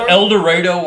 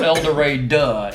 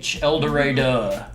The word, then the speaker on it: El Dorado: you hit your 40 it's not elder ray duh e-l-d-o-r a-d-u-h-h-h eldorado and yeah yeah because that's just the way people that live there too long pronounce that yeah i'm glad i